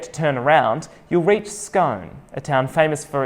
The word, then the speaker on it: Scone: Why do we pronounce it like posh English people?